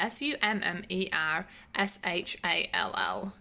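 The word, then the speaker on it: Summershall: of summers hall so michelle how do you pronounce that s-u-m-m-e-r-s-h-a-l-l i'm gonna say summers hall because i like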